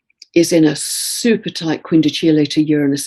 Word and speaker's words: quindecile: It's spelt quindecile, but it's pronounced quindecile.